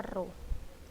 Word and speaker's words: rho: Seperti ini ya, rho, dibacanya rho.